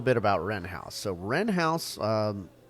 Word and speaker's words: Wren House: So Wren House is spelled like the bird with a W in front.